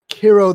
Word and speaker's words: Kero: name is uh well their name rhymes with zero well they are zero so yeah their name checks out yeah the name starts with the k and rhymes with the zero and um but anyway um